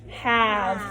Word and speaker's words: have: And this one has 1, 2, 3, 4 letters, but it only has 1, 2, 3 sounds. The word is have.